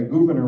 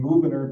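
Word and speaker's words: Gouverneur: The Committee of Style then headed by Governor Morris. A lot of people pronounce it governor. That's not the way you pronounce that. He has the name Gvenor because that was his mother's surname.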